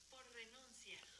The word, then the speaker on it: por renuncia: You hear how it rolled the R? Listen to this. Listen to this. Listen to this. By resignation. By resignation. Por renuncia. So you hear those R's roll.